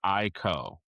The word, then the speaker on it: Aiko: It's Aiko. Yeah. It's spelled Aiko.